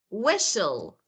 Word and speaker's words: whistle: say castle lur mhm yeah cast SNL or whistle whistle so I don't say whistle so with